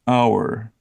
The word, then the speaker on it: hour: yeah that's what about what about a hour that's an H so we should say true yeah but you don't you say un hour ha there are some